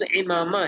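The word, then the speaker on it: عمامہ: اس میں شامل تھا، صحیح اس کا تلفظ امامہ ہے عربی میں، تو امامہ بھی تو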